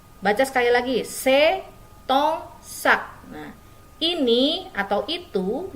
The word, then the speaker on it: tes: Dibacanya T. T, bukan tes. Oke, dibacanya T. S tidak dibaca.